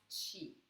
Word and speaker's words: Qi: It's spelled Qi, and it's pronounced Qi.